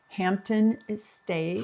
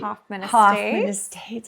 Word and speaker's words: Hoffman Estates: The last time we podcast, we were getting ready to go to the Makers Meetup in Hampton Estates. Hoffman Estates. I always say it wrong.